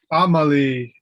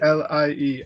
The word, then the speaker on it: Amalie: They spell it Amélie in French, but we chose Amalie because we thought it would be easier for Americans to pronounce. Because we didn't want her teachers to call her Amelie or Amelie or So Amalie Rose.